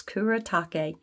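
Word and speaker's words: Kuretake: to Google it to find out how to pronounce it but it's Kura take very I don't know to me this just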